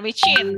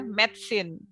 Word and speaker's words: medicine: Bukan micin ya, medicine.